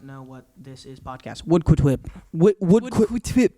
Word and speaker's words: Woodquitip: Woodquitip. Woodquitip is how you pronounce it.